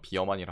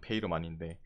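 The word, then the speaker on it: Veerman: 그래서 여기도 그게 좀 문제긴 한데, 그 다음에 미드에 이제 페이르만도 여러분이 아는 건 아마 비어만이라 할 거예요. 영어 발음은. 근데 원래 이름은 페이르만인데 요 인간이 이제 또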